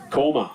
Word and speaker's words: Quamma: I keep mentioning that, but we've got some really curly town pronouncing names as well, like Quamma. Korma, of course.